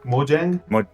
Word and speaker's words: Mojang: Mojang? Mojang, yeah. Dude, I've never heard it pronounced like he just did.